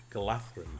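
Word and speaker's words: Galadhrim: So we got a Galadrim bow. Galathrim. That DH character is pronounced sort of halfway between a D and a TH.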